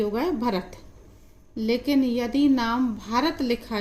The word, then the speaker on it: भारत: रा और टी से ता, तो ये होगा भरत। लेकिन यदि नाम भारत लिखा जाए तो स्पेलिंग अधिकतर यही लिखी जाती है, लेकिन अगर